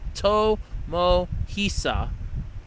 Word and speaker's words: Tomohisa: After meeting animator Tomohishi, or I can't pronounce it, I'm sorry, Shimoyama, it's Tomohisa, Tomohisa Shimoyama, he learned of the